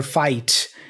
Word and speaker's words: fight: about the fight um first of all he doesn't say the T for fight you nervous about the fight he pronounces the T there as a stop consonant you're nervous about the